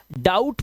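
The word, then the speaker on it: doubt: इसी तरह से इसको हम डाउट पढ़ते हैं। डाउट इसका बी साइलेंट होता है।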